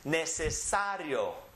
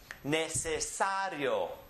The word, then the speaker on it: necesario: The next one is pronounced necesario. Necesario. We're keeping the E and the O together because it's weak and strong.